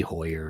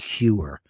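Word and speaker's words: Heuer: enough love I know it used to be Hoyer and oh you know who mispronounced Hoyer Mr Wonderful he called it tag Huer you dumbass that guy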